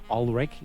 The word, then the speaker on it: Ulrik: I'm going to pronounce his name in Danish, but it is Ulrik.